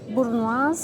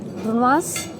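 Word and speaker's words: brunoise: Questo è un tris affumicato di mare con burno di mango. La pronuncia giusta di questa parola. Tris di affumicato di mare con brunois di mango.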